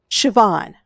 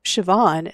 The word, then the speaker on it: Siobhan: show jumping instead so I had to go and look up how to say this name and it's Siobhan so Shian is going to be